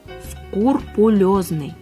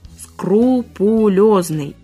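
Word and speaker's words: скрупулёзный: Правильно? «Скрупулезный», а не «скрупулезный».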